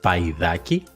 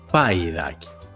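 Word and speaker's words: παϊδάκι: caso se pronuncia ai, paidaki? Esto lo logramos poniendo dos puntitos por encima de la segunda letra de la combinación que indican que las dos letras se tienen que pronunciar separadas.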